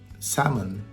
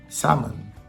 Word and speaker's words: salmon: almond almond but with salmon there is no FL flexibility you have to take out the L Wednesday Wednesday Wednesday also